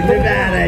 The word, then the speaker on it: Nevada: Nevada, you know.